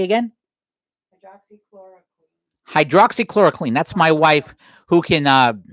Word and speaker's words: hydroxychloroquine: of the company that makes what's the thing pronounced, Valerie? Say again? Hydroxychloroquine.